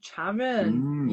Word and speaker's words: Charon: Sarin say Sharon says it's pronounced with a hard ch Oh, so it's Sharon. Oh, Charon.